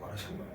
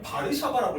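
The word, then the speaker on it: Warszawa: 와르샤와. 어 선생님 왜 와르샤와인데 읽을 때는 바르샤바라고 읽어요? 이게 전 세계적 현상이에요. W랑 V가 구별되지 않는 현상이에요.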